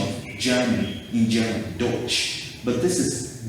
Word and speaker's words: Deutsch: different from the that ch yes that's the pronunciation of german in general deutsch but this is dutch d-u-t-c-h that's the english